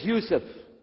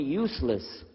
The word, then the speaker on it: Yousef: work on it inallah my name is Yousef can you say Yousef you say Yousef you're very good I wish you teach my wife she keeps mispronouncing it she calls me useless alhamdulillah now how many